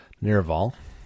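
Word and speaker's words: Navarre: He hails from the desert fortress of Nerval, that's how you say it, home to a guild of noble thieves.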